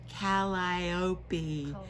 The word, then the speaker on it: Calliope: And the discussion was, how do you actually say that word? Because it is spelled Calliope. And we went right to Siri and had it spoken out loud for us, and it is really Calliope. Calliope. Yeah. Calliope. That's better.